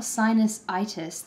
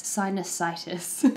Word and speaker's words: sinusitis: sinus I'm trying to work out how to pronounce it it's it's not sinusitis the lexical stress is is not on the IIs bit it's sinusitis um I now have this Wonder beautiful nasal